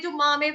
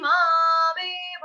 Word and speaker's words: मामेव: अगर हम यहाँ पे रुक जाते हैं तो फिर गलती से क्या हो जाता है, ते प्राप्नुवन्ति मामेव, तो वो गलत हो जाएगा। हमको कैसे गाना है, ते प्राप्नुवन्ति मामेव, फौरन जैसे ही टी आपकी खत्म हो वैसे ही गैप को खत्म करके मामेव बोलना है।